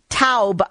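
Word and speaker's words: טוב: word translated good it's the hebrew word t-o-w-b taub i think is the pronunciation t-o-w-b as a noun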